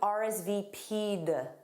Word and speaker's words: RSVP'd: So you add a soft D.